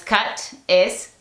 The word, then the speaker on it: cute: ¿Qué pasa si le colocamos una E al final de la palabra? La E le dice a la U que pronuncie su nombre. Ahora no es cut, es cute.